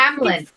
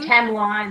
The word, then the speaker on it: Tamlin: I understand, but no, it looks like Tamlin. Oh, really? Thanks. No fucking way. I'm saying Tamline this whole time.